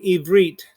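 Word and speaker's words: עברית: an ulpan a kind of kita for teaching evreet to new citizens the lessons are taught using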